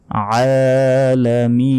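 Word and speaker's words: العالمين: রব্বিল রাব্বিল নয় রব্বিল আলামিন এই আইন এখানে আলা বলা যাবে না বলতে হবে আলা এই গলার ভেতর দিয়ে উচ্চারণ হবে কারণ এখানে আইন অক্ষর আছে আলা আলামিন আলহামদুলিল্লাহি রাব্বিল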